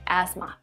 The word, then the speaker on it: asthma: asthma asthma no asthma so in this case we have silent t and cell and h asthma don't try to soften